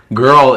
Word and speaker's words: girl: let's talk about that girl is a tough one um it's er in the middle girl girl and world sounds